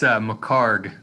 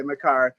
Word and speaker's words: McHargue: Yeah, it's McHargue. The UE is silent. Okay, McHargue, who is a group of 5 insider for ESPN.